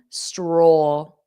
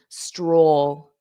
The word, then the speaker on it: stroll: Stroll. Oh, stroll. You have that dark L. Oh, stroll, stroll, stroll.